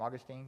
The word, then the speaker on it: Augustine: that's the big one so so augustin who is like our town's name after but we pronounce his name augustine because we're cool like that um but he said